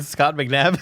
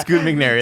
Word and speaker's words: Scoot McNairy: How do you say his name? Scott McNabb. Scott McNabb. Scoot McNairy. That's Scoot his name.